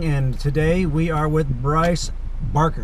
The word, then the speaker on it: Brice Barker: Hi, this is Mike Perez with Home Buyers Academy on another episode of Real Estate Ridealong, and today we are with Brice Barker, right?